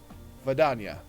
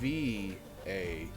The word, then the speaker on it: Vadania: Vidania. Say that again? Vidania. Aduunna. Aduunna. Oh. Well, she's a female. It's VADANIA.